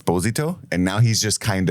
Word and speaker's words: Esposito: is fine Google's tough so he even said Esposito for many years which was kind of just